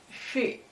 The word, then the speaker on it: 是: Donc, on répond oui, shi, How do you say yes?